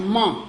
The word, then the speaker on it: ment: And then the national pronunciation, like ment, il ment, he's lying, il ment in French, and which is meant. in English.